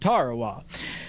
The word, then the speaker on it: Tarawa: Ladies and gentlemen, there's a tiny island in the mid-Pacific called Tarawa. That pronunciation, incidentally, is from the National Geographic Society.